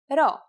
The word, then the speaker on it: rho: Our first letter this time is the consonant rho. Its sound is r and is exactly like the English R.